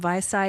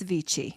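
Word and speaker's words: Vichy: to correct myself cuz I called them visai it's vichi oh okay well I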